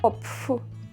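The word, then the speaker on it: Kopf: голова по-німецьки називається коп як це вимовити коп коп копф але в середньо-верхньо-німецькому варіанті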